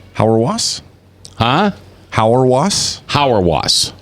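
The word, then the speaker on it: Hauerwas: Stanley how do you say his last name howre wasps huh howre wasps howre wasps yeah h aur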